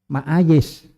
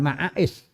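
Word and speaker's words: معايش: Sebab yang saya tahu ma'ayis. Bukan ma'ais, tapi ma'ayis. Ya, ma'ayis.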